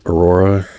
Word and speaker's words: Aurora: So I got a Paragon or Aurora.